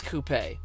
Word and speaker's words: coupe: And yes, it is coupe. Spend enough time outside of America getting politely corrected or yelled at, and it becomes apparent that most Americans adopt some strange pronunciations.